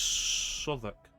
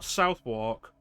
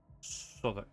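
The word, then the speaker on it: Southwark: For example, this is Suk, not Southwalk Soc.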